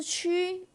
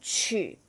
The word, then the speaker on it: 曲: 在这边它不再读成是曲，弯弯曲曲的曲，它在这边是读成曲，乐曲。